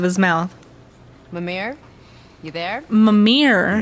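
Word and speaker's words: Mimir: mouth mamir you there mamir yes that's how you say it good oh my God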